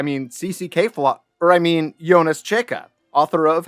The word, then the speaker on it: Jonas Čeika: Nietzsche and Marx for the 21st century by Jonas chica e Sika JK it's pronounced Jonas chica oh hey it's floss or I mean cck or I mean Jonas chica author of how to philosophize with a hammer